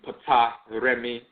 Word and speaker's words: Ptolemy: writing like the Greeks, like the term Ptolemy, will be pronounced and written Puta Remi, Putaremi, as opposed to Ptolemy, and the letter L